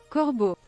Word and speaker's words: corbeau: Corbeau. Corbeau. Corbeau. Corbeau. Corbeau. Corbeau. Sounds like cordon bleu.